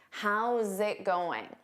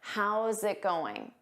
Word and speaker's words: how's it going: Notice that zit. How's it going? You need to combine those sounds together. How's it going?